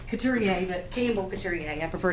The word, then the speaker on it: Couturier: Would you come forward and pronounce your... It's Couturier, but Campbell Couturier.